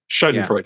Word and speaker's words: Schadenfreude: The word Schadenfreude. Am I saying it right? Yeah, Schadenfreude.